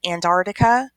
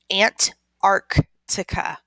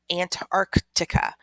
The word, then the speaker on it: Antarctica: when we're talking about this continent we say Antarctica but we really need to make sure that we pronounce the second see aunt Arctica Antarctica so it has that word Ark inside of